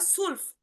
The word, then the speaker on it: zwölf: এবং টুয়েলভ কে বলা হয় সুলফ, সুলফ বা সোলফ। ঠিক আছে, সোলফ। এই যে দেখেন এখানে সর মতো উচ্চারণ আসতেছে, সোলফ, সোলফ, সোলফ।